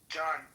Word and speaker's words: John: Well, ask John. I'm just asking a question. Oh no, not you, John. I'm talking about the John next to you. The silent H John.